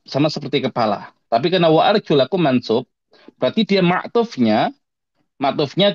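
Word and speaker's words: وَأَرْجُلَكُمْ: Karena cara bacanya wa arjulakum ya. Waarjulakum.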